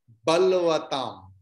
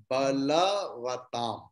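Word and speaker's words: बलवताम्: That is the influence of Hindi. Balam, you told Balam Balvatam. It is not Balvatam. It is Balavatam. Please chant.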